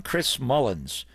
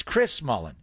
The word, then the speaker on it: Chris Mullin: and he's an underrated player because of him Chris Mullin name was mispronounced by everybody in the NBA they kept calling him Chris Mullins I'm like you never heard of Chris at